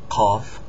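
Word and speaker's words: ق: K CF c c cough on the other hand is different it's pronounced in the back of the throat cough cough um it looks just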